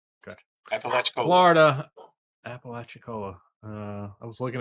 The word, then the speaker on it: Apalachicola: Apalachicola.